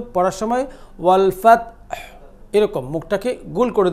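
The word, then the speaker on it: وَ: আপনি উচ্চারণ করবেন ওয়া খুব হালকা করে, যতটা পারেন আপনি, যত হালকা করবেন তত ওয়াওয়ের উচ্চারণের মানটা, স্ট্যান্ডার্ডটা অনেক বেড়ে যাবে, ওয়া ওয়া ওয়া।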